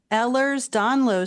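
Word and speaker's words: Ehlers-Danlos: He's living with narcolepsy and also has Ellers's Donlo syndrome. Thanks Nico for calling and and did I pronounce that right and explain what that is?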